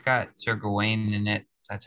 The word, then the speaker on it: Gawain: But it's got Sir Gawain in it.